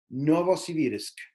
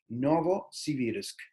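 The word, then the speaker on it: Новосибирск: nueva ciber ya que en ruso se pronuncia novosibirsk novosibirsk por un por penúltimo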